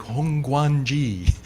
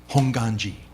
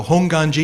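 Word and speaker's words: Hongwanji: this term Hong and you'll notice the W is silent right A lot of people see this and they're like hongan G but the W is silent honganji um and if you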